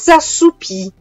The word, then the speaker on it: assoupis: S'assoupir, nous nous sommes assoupis. Assoupis, pur avendo la stessa pronuncia, una grafia diversa, e non mi devo dimenticare dell'accordo con il nous, quindi con il plurale.